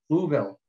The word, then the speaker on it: Louisville: visitor program um it was in uh louisville louisville that's the way they pronounce it um that i receive certified peer